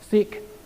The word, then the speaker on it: Sieg: was Heil Hitler okay Sieg Heil Sieg means victory si eg the genius in German a G on the end of a word is pronounced like a K seek high o so he